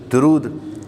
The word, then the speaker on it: درود: جیسے عام ہمارے یہاں درود صحیح تلفظ دال پر پیش ہے, درود.